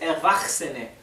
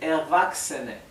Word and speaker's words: Erwachsene: Fíjense que CHS, creo que lo mencioné en una de las primeras clases, se pronuncia x, ¿sí? O x, así, ¿bien? Así que la CH no tiene el sonido ¿bien?, sino que la combinación de las tres es x. Por eso acá no se dice Erwachsene, se dice Erwachsene.